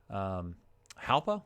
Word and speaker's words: Jalpa: Now, that's kind of like an H instead of a J pronunciation, Jalpa, not Jalpa.